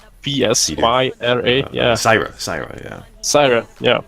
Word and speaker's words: Psyra: almost got myself banned by, fuck, I cannot pronounce his name, Psyra? P-S-Y-R-A, yeah.